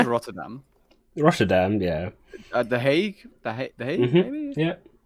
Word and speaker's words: Hague: The Hague. The Hague, Mhm. maybe. Yeah. It's weird how they call it the Hague.